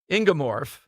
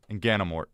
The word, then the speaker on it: Inganamort: All right, Mike Ingemorf. Inganamort. I left off a syllable. There's like 18 syllables. Inganamorf. Mort. Yeah, but it does phonetically go Ganamort.